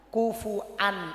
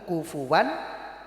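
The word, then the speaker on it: كفوا: Karena ikut lahjahnya orang Quraisy. Karena orang Quraisy itu tidak suka untuk membaca hamzah, sehingga dibacanya walam yakun lahu kufuwan ahad. Tapi secara sorof aslinya adalah kufuan.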